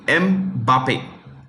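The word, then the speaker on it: Mbappé: That's how you pronounce it. Mbappe.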